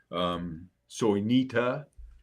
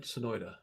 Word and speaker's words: Sonoita: Yeah, because we know about the wines in the county and other locations, Wilcox, Soinita. Did I say it right? Sonoita. Sonoita. Sonoita. Yeah. Yeah. Well, I say Soinita. You say Soinita.